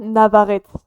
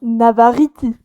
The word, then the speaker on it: Navarrete: Ça ne se dit pas Navarrete, Ah c'est vrai que j'aurais dû m'en douter. Ça ça se se dit comment? Navarriti. Navarrete? Ouais, genre Inzi Navarriti.